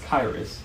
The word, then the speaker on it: Qyrus: much better q-y-r-u-s pronounce kairis derives its name from